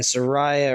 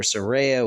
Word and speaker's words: Saraya: with her opponents and Soraya or Saraya whatever way you want to say it surreya is how I'm going to pronounce her name from now on Soraya